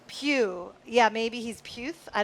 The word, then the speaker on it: Pugh: are you they're like aren't they pronounced the same Pew yeah maybe he's puth